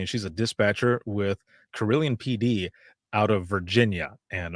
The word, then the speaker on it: Carilion: i'm doing all right now did did i pronounce that right you did corellian cd that is correct yes okay cool oh